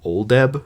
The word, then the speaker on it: Oldeb: So there's a main character named Augustus Bedloe, and his name is spelled Bedloe. And there's a second character named Oldeb, mentioned later on, which is Oldeb.